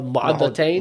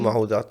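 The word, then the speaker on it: Mu'awwidhatayn: 4 quls, or the mu'addatain. Ma'udat, yeah. Yeah, if I'm not, maybe I've mispronounced it. No, you said it right, but it's normally ma'udat.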